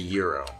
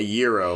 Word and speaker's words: gyro: at me like good it's a gyro yeah a gyro like a year like year Oh gyro thank you and she